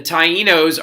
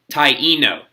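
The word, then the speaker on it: Taíno: so since Columbus landed in the Bahamas the Tainos are gonna be the first purple that he first purple the first people that he reacts in interacts with okay so this right here is pronounced Taino not T no not I know but Taino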